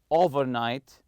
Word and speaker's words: overnight: world over and night if you put them together if you compound them with each other it comes the overnight you say overnight stress the first part the over part and the conversation that